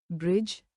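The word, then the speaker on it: bridge: उदाहरण science science Saint Saint साइलेट the Maundy DG के संयोजन में जब डी आए तो साइलेट होता है उदाहरण ब्रिज ब्रिज एज as sandwich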